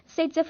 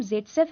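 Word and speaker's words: Zaitsev: वैसे तो उसका नाम जेटसेफ है, लेकिन उसको हम बुलाते हैं सेटजेफ है, मतलब दोनों एक जैसे लग रहे होंगे बट हैं अलग अलग। देखो अलेक्जेंडर जेटसेफ है, इसको हम प्रोनाउंस करते हैं सेटजेफ।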